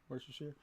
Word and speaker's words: Worcestershire: Worcestershire sauce. Is that right? Close. Worcestershire. Yeah.